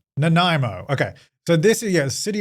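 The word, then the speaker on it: Nanaimo: Nimo. How do you say it? Let me look it up so I can get it right. Naimo.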